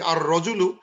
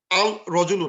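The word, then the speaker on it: الرجل: কালামু, রজুলুন, আল রজুলু, এই আর রজুলু, আল রজুলু না, আর রজুলুকে, বিকজ রাটা হরফু শামসিয়া, এবং এটা আলিফলাম, লামটা হারা যাবে, আর রজুলু, দ্য ম্যান, দ্য ম্যান।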